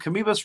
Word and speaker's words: Kamoebas: And Kamoebas rhymes with Amoebas. Amoebas.